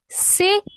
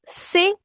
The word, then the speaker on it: C'est qui: It is Sei. Notice my pronunciation. Sei.